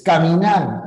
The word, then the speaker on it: caminar: estaba la tilde pero cuando no hay tilde que haces tienes que pronunciar y aquí en la segunda es caminar caminar o caminar Ah es caminar entonces aquí está la